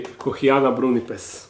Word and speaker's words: Kochiana brunnipes: something like that but correct Latin pronunciation would be Kiana brunz now let's try to